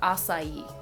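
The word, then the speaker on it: açaí: Yeah, it's called acai.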